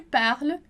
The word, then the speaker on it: parles: Lembra lá que você já viu comigo que S em final de palavra não é pronunciado.